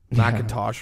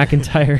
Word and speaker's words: McIntyre: they had the whole Ziggler and Fallout with McIntosh, or how do you say his last name? McIntyre.